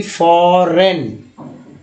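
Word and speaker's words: foreign: होगा, फेन, फिर देखिए फॉरेन, जी को साइलेंट कर दिया गया फॉरेन।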